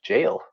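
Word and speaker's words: gaol: Dublin um and then Gail with a g a o l so G is this gay h no it's actually the old spelling of jail oh oh I know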